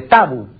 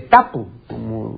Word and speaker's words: tapu: O de tabú, o de tapu, como realmente debiera decir. En la academia, al poner la etimología de tabú, dice, en Polinesia no se dice tabú. No, en Polinesia no se dice tabú. No, la palabra no es aguda en Polinesia. Yo tengo un estudio bastante documentado sobre este término. Y en Polinesia se dice tabu.